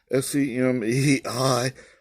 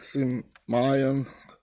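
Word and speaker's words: σημεῖον: Semeion, Simeon, or something like that. Simeon, I think is the way to pronounce it.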